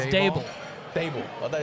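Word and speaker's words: Daboll: It's Dable. Dable. I thought it's Dball. It's Dable. Dable. It was Dball before the weight loss. Now it's Dable. It's never been dayball.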